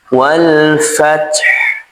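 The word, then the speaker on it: والفتح: ha di sini disukunkan cara membacanya wal fath pastikan Ha di sini tetap mengalir karena ha ini bersifat rakhawah. Jadi pastikan dia mengalir. Pastikan ha ini mengalir.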